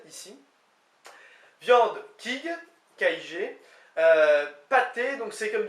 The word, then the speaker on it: kig: Viande, kig, K-I-G.